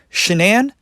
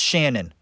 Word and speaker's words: Shanann: do you think that well tell you why shenan that's not her real name folks her name's